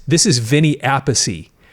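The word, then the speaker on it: Appice: Carmine a piece. This is Vinnie Apey. It's funny. Okay, they pronounce it differently although they're brothers and they have the same last name.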